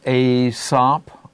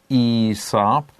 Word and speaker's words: Aesop: Some people pronounce his name as Aesop, others as Aesop. It's a Greek name, and because it's a foreign name, it can have different pronunciations.